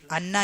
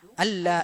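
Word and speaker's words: أن لا: അൻ എന്നാണ് പ്രയോഗിച്ചിട്ടുള്ളത്, അന്ന എന്നല്ല, അൻ ലാ ഇലാഹ ഇല്ലല്ലാഹ്. ചില ആളുകൾ ബാങ്ക് വിളിക്കുന്ന സന്ദർഭത്തിലൊക്കെ അഷ്ഹദു അന്ന എന്ന് പറയാറുണ്ട്. അത് ശരിയല്ല. അഷ്ഹദു അല്ലാ ഇലാഹ ഇല്ലല്ലാഹ് എന്നാണ് പറയേണ്ടത്. അഷ്ഹദു അല്ലാ ഇലാഹ ഇല്ലല്ലാഹ്. അവിടെ നൂന് എഴുതുമെങ്കിലും ഉച്ചാരണത്തിൽ അത് വരികയില്ല എന്നാണ്.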